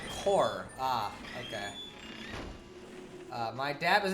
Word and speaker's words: corps: By the way, corpse is pronounced core.